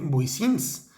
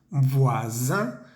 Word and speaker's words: voisins: Vecinos en plural se escribe voisins, se lee voisin, haciendo vibrar esa S porque está entre dos vocales. Voisin, la B pequeña se pronuncia con los dientes, voisin.